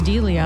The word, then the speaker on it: D'Elia: I think it's Delia.